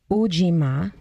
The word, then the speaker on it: Ujima: This word in Swahili is pronounced kujichagulia. The third is collective work and responsibility, and it's ujima.